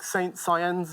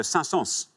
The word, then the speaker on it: Saint-Saëns: I think it's Saint-Saëns, like Saint Saëns, I think that's how it's spelled. It is, but strangely, you pronounce the S in it, so Saint-Saëns.